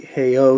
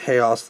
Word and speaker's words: Haos: else like everyone else even though it's supposed to be pronounced like Halo hey hey oh s--- but everyone calls it hey us like chaos so shrines